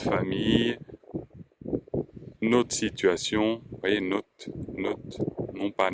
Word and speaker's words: notre: Hein, on ne dit pas le R, en l'occurrence, donc on ne prononce pas ce R. Hein, notre famille, autre situation, vous voyez, note, non pas notre.